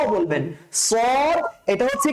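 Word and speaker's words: صاد: কি ভাই মোটা করে আমরা অনেকে বলি সোয়াদ সোয়াদ সোয়াদ না উচ্চারণটা বেসিক্যালি কি এই উচ্চারণটা সোয়াদ না এটা কি সোয়াদ না আমরা যদি সোয়াদ বলি সো আদ বলি এটা কি ভুল সোয়াদটা কি ভুল উচ্চারণটা বেসিক্যালি কিভাবে করবো আমরা সদ স মোটা করে সদ স এভাবে করে স এভাবে উচ্চারণ করবেন হ্যাঁ স সদ সদ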